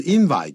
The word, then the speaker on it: invite: To invite, 念成 invite, 就变成名词了,对不对? 对, an invite, invite. Invite.